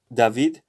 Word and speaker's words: David: return whole return soon it's david but since we're doing spanish licensure we should read it as david so david is going